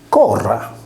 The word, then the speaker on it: Cornua: Per cui, il neutro plurale latino Cornua si leggeva Corra.